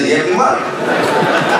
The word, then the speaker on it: Liyeplimal: Voilà un Philippien qui prononce bien Yeblimal.